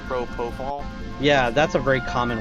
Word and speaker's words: propofol: including intimidate uh propofol is that what is like propriol or something like I forget how to pronounce it propofol yeah that's a very